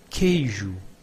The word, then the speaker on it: queijo: Exemplos: queijo, queijo, it means cheese, quimera, quimera, chimera, quente, quente, hot, quieto, quieto, quiet, quieto, quiet. As you can see, in Portuguese, the U after the Q is not pronounced, but we have some